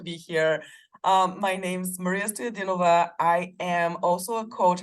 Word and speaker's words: Stoyadnova: It's Stoyadnova is the right pronunciation, but definitely close enough. Thank you. Yeah, again, thanks so much for having me. I'm really excited to be here. My name's Maria Stoyadinova.